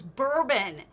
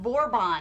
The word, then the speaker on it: bourbon: way wrong yui oh the other word they mispronounced was borbon it was bourbon and they kept calling it vorbon and for the longest time nobody knew what the hell they were talking about why are there